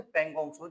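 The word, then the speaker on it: Pangong Tso: हम बात कर रहे थे पगोंगसो झील के बारे में। पगोंगसो झील। हेडिंग डालिए पगोंगसो झील। पगोंगसो झील। पगोंग टी एस को लिखा जाता है ले। लेकिन टी साइलेंट है।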